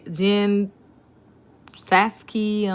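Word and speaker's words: Jen Psaki: white house press secretary jen saskey know the p is silent said friday so this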